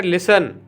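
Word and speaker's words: listen: Number 27 पर है लिसन एल आई एस टी ई एन लिसन लिसन यानी सुनना एल आई एस टी ई एन लिसन लिसन यानी सुनना इसमें आपका आपका टी साइलेंट रहेगा।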